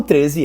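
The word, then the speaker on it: thirteen: O 13 é 13. 13. 13. Então, o estresse é no teen.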